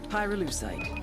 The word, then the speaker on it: pyrolusite: Pyrolusite, key syllable pyro, by the way, is the shit they mine in Verde province to turn coca leaves into high-quality cocaine.